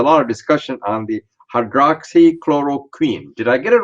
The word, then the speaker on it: hydroxychloroquine: may not be able to pronounce the correct pronunciations it is called there's a lot of discussion on the hydroxychloroquine did i get it right yes yes okay